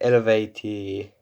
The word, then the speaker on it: Eluveitie: I think it's like Elevate if you want to pronounce it correctly, but here in Finland we say Eluveitie.